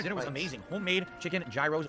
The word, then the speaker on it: gyros: Homemade chicken gyros, or gyros as they pronounce them at the restaurants. Superbly delicious. Could not believe how good they were. Blew me Phil, away. why do you... So we're currently on what floor? Why do you keep calling them gyros if they pronounce them heroes?